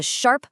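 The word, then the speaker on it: 小: Now, on the other side, we have shiao. This one is pronounced sha. And this is the third tone which has this distinct falling then rising quality.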